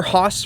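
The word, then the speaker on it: HOSS: off-road stability suspension or haas for short which kind of rhymes with boss plus it just looks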